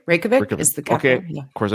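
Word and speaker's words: Reykjavík: Reykjavik is rapidly becoming my favorite European city. I love it there. Oh, love, what's it love, called? love. Reykjavik? Reykjavik is the capital.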